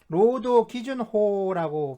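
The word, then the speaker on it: 労働基準法: 그러니까 노동기준법이 있는데, 네, 이게 이제 로도기준호라고 발음을 하는데, 이 노동기준법 제11조에서 임금을 정의하면서 노동의 대상, 그러니까 로도노 타이쇼라고 표현을 해요.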